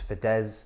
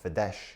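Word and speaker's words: Fidesz: a classic pronunciation issue it's fedz not fides okay and that is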